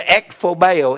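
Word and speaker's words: ἐκφοβέω: The word frightened is the word ekphobeo, E-K-P-H-O-B-E-O. Or ekphobos, O-S. Sometimes it's spelled either way.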